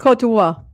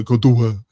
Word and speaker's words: Côte d'Ivoire: Côte d'Ivoire. Yeah, Côte d'Ivoire.